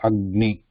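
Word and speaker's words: अग्नि: So pronounce this and then pronounce the vowel part. So Agni. Agni. Agni. So if you write them separately, how it is written, again same. So first the consonant without the vowel, then ni. Agni.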